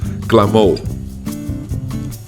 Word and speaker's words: Clamor: It's pronounced Clamor. And yes, Clamor translates to clamor.